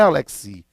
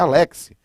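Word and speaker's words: Alexy: Ele é alemão, então não é Alexi, é Alexi.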